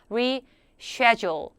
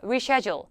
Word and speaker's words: reschedule: be reschedule이라고 발음을 했는데 미국 사람들은 물론 거의 100% 사람들이 reschedule reschedule이라고 발음하지만 영국 사람들 같은 경우는 발음이 조금 달라져서 res schedule 쉐 발음으로 하시면 돼요 reschedule 물어보는 건 compy bqu